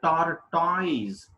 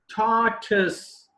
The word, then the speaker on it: tortoise: is not taught eyes this is titus tartus is the exact pronunciation of this word and we we need